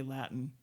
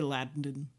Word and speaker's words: Latin: where those T's, you cannot pronounce them before an N. You have to say Latin. You can't say Latin. I can't even do it.